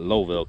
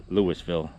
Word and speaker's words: Louisville: in kentucky louisville kentucky some people call it lowville kentucky but pronounce lewisville from where i'm from